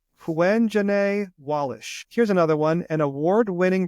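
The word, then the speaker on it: Quvenzhané Wallis: Well, this is how you pronounce her name. Quenjane Wallish.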